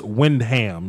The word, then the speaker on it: Windham: So it's Rev Wyndham.